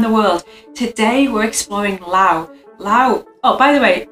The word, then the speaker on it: Laos: Today we're exploring Laos. Oh, by the way, it looks like it's Laos, but it's Lao, you don't pronounce the S.